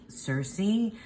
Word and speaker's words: Circe: loving getting to know Cersei or kir kir um depending on how you want to pronounce it but I yeah I'm